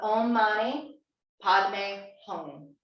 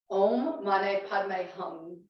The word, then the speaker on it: Om Mani Padme Hum: And I found, correct my pronunciation, the Om Mani Padme Hum. Om Mane Padme Hum. Mhm. And we're like saying hum because that NG at the back of the soft palate where the tongue presses back there is really important.